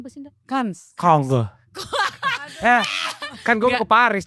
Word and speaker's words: Cannes: Jadi dia itu pertamanya menang di Cannes ya. Cannes. Bacanya apa sih, Nda? Kans.